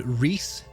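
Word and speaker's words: Reis: one more correct correct that would be lord reese erie on dare hey so reese r-e-i-s i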